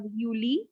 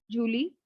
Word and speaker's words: Juli: Next for July, we have Yuli, not Julie.